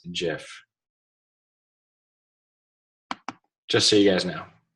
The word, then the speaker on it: GIF: know what the guy that invented the the gif just came out and said that it's not pronounce gif it's actually pronounced jiff just so you guys know all right so